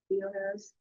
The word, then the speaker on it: Theoharis: Pronounce it Theoharis.